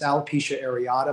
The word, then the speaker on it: alopecia areata: media and they're not saying it right it's alopecia areata most likely in alopecia areata areata is an